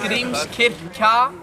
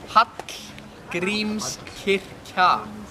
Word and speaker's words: Hallgrímskirkja: Hallgrímskirkja. Who wants to try the pronunciation? Say it again? Hallgrímskirkja. It's like a TL sound. Hallgrímskirkja.